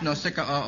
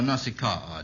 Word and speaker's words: Nausicaa: Is that pronounced Nausicaa or Nausicaa, John?